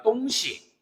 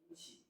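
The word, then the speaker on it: 东西: 똥시. 똥시. 얘 같은 경우도 우리 발음 똥시 잘해 줘야 돼요. 똥시해 버리면 어떻게 된다? 동쪽 서쪽이 돼 버린다라.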